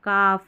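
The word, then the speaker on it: calf: हालफ कालफ नहीं हाफ काफ हाफ वे हाफ वे ठीक है इसमें एल साइलेंट है।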